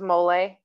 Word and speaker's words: mole: So the answer to this is mole, and it's spelled like mole, M-O-L-E. Yeah. If you have an accent, use this. The accent.